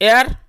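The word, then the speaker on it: heir: यह अनट्रेस वैसे ही जो हेयर अर्थात उत्तराधिकारी इसमें जो एच साइलेंट है तो यह बन जाएगा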